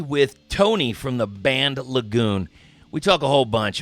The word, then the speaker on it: LaGoon: Now, do you pronounce it LaGoon? LaGoon, yep.